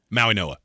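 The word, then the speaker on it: Mauigoa: Maui Noah.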